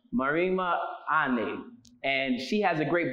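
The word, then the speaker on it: Marimba Ani: Pronounce her name for me, Kwesi. It's Marima Ane. Marima Ane.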